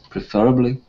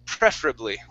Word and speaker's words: preferably: So, preferably, if one had the choice. Okay. So the stress is at the very beginning. Preferably.